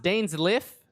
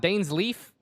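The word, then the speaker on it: Dainsleif: you all know that this motherfucker's name is pronounced dane's life and not dane's leaf i've been i've been thinking this guy's name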